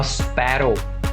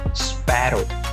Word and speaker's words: sparrow: तो शी सॉ अ स्पैरो। स्पैरो, स्पारो नहीं है वो, स्पैरो।